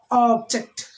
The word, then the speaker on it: object: We are stressing on the first syllable. So here, object.